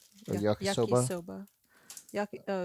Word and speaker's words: yakisoba: but um I don't know how you actually pronounce the brand. I think bulldog. Bulldog. Bulldog? So yeah, I'm making some yakisobe or yakisoba.